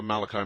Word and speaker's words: Malachi: And I had a question, but I just was kind of really thrown off by something the Father Malachi, is it? Yes. Okay, pronounced it right.